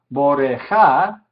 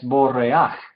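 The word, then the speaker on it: בורח: Entonces, en vez de decir boreja, que normalmente esperaríamos, es borreaj, borreaj.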